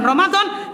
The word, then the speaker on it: Ramadhan: Saya ulang. Jangan ramadana. Tapi boleh ramadannya tetap sah cuman lebih pas kalau dibacanya Ramadan.